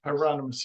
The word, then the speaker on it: Hieronymus: think Hieronymus is that how you say it Hieronymus yes so he jumps in later in life